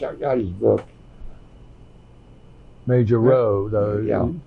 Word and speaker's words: Rowe: Major Rowe, though. Yeah. Pronounced Rowe? Yeah, Major Rowe.